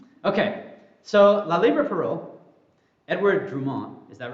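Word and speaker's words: Édouard Drumont: La Libra parole Justin is that how I pronounce it that's right yes I got FR thank you okay so la Libra pero Edward drumont is that right yeah wow I I always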